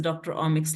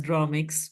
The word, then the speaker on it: Dr Omix: Delhi our name is Dr omix labs this name will be pronounced not as dromic we are Dr omix so uh we are